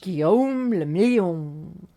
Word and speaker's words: Guillaume le Million: If it doesn't rhyme, you're not pronouncing it right. Guillaume le Million.